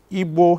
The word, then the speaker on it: Igbo: Igbo here is spelled I-G-B-O.